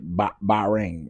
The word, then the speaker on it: Bahrain: Pronounce "ba" like a sheep ring. Okay, Bahrain.